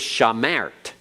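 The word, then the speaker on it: שָׁמַרְתְּ: second schwa is okay at the end of a word if you have two schwas in the row at the very end they're both silent they're both silent so this is shamart okay everyone shamart all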